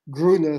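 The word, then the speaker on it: Grüner: Grüne Veltliner has another problem, and that's simple pronunciation. Yeah. There is a low price Austrian wine on the American markets with Gruner spelled G-R-O-O-N-E-R, just to make it clear.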